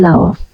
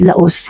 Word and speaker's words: Laos: Hindi po Laos ang hindi po Laos ang basa silent s po yon law l a o s Lao Pero kapag binasa mo siya ng ano Laos ' ba pero Lao po yun silent s Tingnan niyo po yung